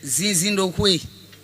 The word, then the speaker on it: Zinzindoué: Je vais d'abord te demander de prononcer ton nom d'épouse en béninois. C'est Zinzindoué.